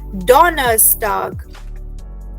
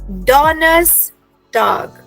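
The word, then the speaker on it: Donnerstag: ahead to the next one Thursday is called डोनर्स टग डोनस टग every everybody please repeat डोनस टाग alright now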